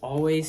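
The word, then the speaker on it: Alvvays: It's one of my favorite indie albums, and that's Always, self-titled. Now it's always, the band is Always, but they spell it with like 2 V's to kind of make a W, which I think is really neat.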